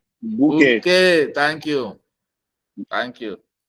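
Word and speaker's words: Bokeh: It begins with a boo. Never forget bouquet. It is spelled B-O-K-E-T. K-E-H. There is a O. That is why it is a boo.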